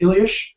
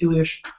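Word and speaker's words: Illyes: and I think Gary I think his last name is pronounced ilyish um European people if I'm wrong please correct me but I believe his last name is pronounced Elish um he also works like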